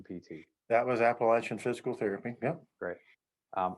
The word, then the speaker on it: Appalachian: and that that was appalachian pt that was appalachian physical therapy yep great um i like your pronunciation a lot better than mine that's your apple ash got it um and